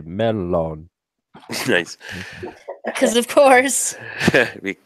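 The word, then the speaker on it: mellon: of modern Finnish um in fin in The Finnish language the uh double letters are pronounced twice I found that out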